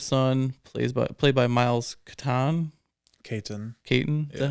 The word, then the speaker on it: Caton: Caton. Is that how you pronounce it?